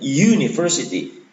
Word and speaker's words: university: Nah, ini yang menurut saya keliru karena ketika universitas itu kita baca dalam bahasa Inggris, bacanya bukan universitas tapi university. Huruf awalnya bunyinya Y, bukan U.